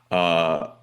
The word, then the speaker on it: Ryu: Uh we just finished up the third major of the year.